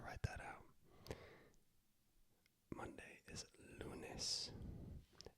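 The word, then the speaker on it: lunes: indulging me to write that out Monday is lunis l u n s lunis Tuesday is mares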